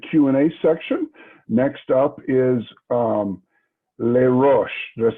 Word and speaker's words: Les Roches: Next up is Les Roches.